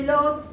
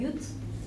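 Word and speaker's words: Łódź: Yo estuve en, se escribe Lodz, se dice Jutz o algo así. Lodz o Jutz, ¿cómo se dice? Jutz, ahí está.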